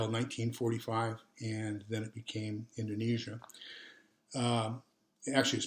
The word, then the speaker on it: Indonesia: east indies until 1945 and then it became indonesia um it actually is pronounced indonesia but we pronounce it indonesia and uh so